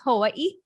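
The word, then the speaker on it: Hawaiʻi: the biggest one babe why are there two eyes at the end of it because technically it's hawaii and there's a little okina in between each eye so that's like how you pronounce it what's the thing they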